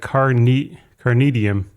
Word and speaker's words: Kanidm: Pronounce like Carnidm, maybe all with the same stress. Carnidm, I don't know where the R comes from.